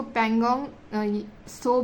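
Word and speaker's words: Pangong Tso: है यह दोनों है इसको पैंगोंग सो भी बोला जाता है टो भी आप अपने अकॉर्डिंग प्रोनाउंस बट टी जो है वो साइलेंट ही होता है पैंग सो और यह सो मोरीरी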